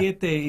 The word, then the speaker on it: biscuit: Bisikete is biscuit. Biscuit. Basically, Right. that's how Fijians pronounce.